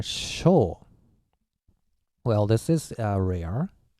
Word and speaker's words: 青: moon like that okay Chinese sty rating is say or show well this is a